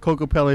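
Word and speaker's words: Kokopelli: on my mother's side, they call him Coco Pa. And that's the right pronunciation before the Europeans decided to add the little Coco Pele at the end.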